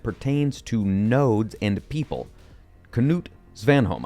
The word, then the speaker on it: Knut Svanholm: Knut Svanholm, I believe that is actually how you say his name. You actually do pronounce the K.